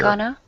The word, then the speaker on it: gonna: Furthermore, it would be very common in spoken English to reduce pronunciation of going to. How would I say that, Nihan? Going to. Here. Gonna.